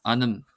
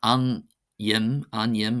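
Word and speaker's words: ainm: It's not an yim, it's anim, anim, anim, and for name, and then anum, anum, anum for soul.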